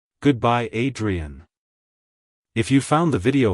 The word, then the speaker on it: Adrienne: to pronounce it correctly emphasize the I sound at the beginning followed by a soft Dre and ending with a clear n like hello Adrien goodbye Adrien if you found the